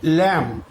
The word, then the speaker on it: lamb: আবার দেখো LAMB, উচ্চারণ হচ্ছে কি ল্যাম, এখানে কিন্তু বি এর উচ্চারণ হচ্ছে না।